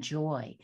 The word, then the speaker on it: Joie: website is my name joy and it is spelled j o i e it's the french version of joy j o i e